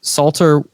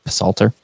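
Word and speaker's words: Psalter: these Maps there's the Salter world map it's spelled with a p Salter the Suter world map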